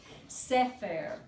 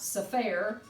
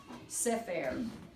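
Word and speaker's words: ספר: And notice that it's accented on the first. Sefer. Not Sefer. Sefer.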